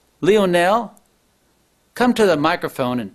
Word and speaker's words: Leonel: But it looked like he was saying it wrong because of the way it was spelled. L-E-O-N-E-L. It looks like it should have been Leonel.